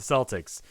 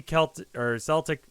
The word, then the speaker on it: Celtic: Crowd remains subdued during the key Celtic. I keep pronouncing Celtic. because it can be pronounced that way, but I don't think that's the way they pronounce it.